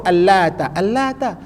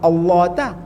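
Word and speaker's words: اللات: Orang sebut Al-Lata, orang tak sebut Allah ta.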